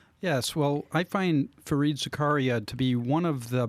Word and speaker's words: Zakaria: I'm going to subtitle it The Capitalist Manifesto, and it's by Fareed how do you pronounce Zakaria. it? Zakaria.